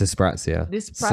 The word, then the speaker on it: dyspraxia: it's the sprouts here so it's dyspraxia that's how it's pronounced yeah there's dyslexia and